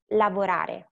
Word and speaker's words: lavorare: Like, so most Italian words stress the next to the last syllable. And we have, for example, burattino, lavorare. For example, and here you see that the letter that we have to stress is the one that I put in bold, is the E in burattino. Burattino. Lavorare. So you hear like the stress goes there.